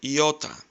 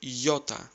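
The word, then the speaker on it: ιώτα: You're hearing it like iota. Try to replace I with Y and try to say iota, iota.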